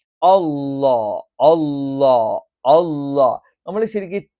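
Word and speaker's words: الله: മാത്രമാണ് ഈ ഉച്ചാരണം ഉള്ളത് ജലാലിയത്തിന് അള്ളാ എന്ന് ഉച്ചരിക്കുമ്പോൾ നമ്മൾ ഈ പറയുന്ന ഇതേ സ്ഥാനത്തുനിന്ന് നാവിന്റെ മധ്യഭാഗം മുകളിലോട്ട് ഉയരും അള്ളാ അള്ളാ അള്ളാ നമ്മൾ ശരിക്ക്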